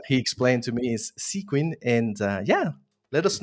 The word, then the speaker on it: Sequin: me it was hard to understand how to pronounce it but yeah he explained to me is sequen and uh yeah let us know uh what's